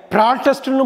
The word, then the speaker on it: protest: PROTEST-யை ப்ராட்டஸ்ட்னு படிக்கலாம், ப்ரொட்டஸ்ட்னு படிக்கலாம். ப்ராராட்டம்ங்கிறது noun, ப்ராட்டஸ்ட். ப்ரொட்டஸ்ட்டுங்கிறது verb, போராடுறது.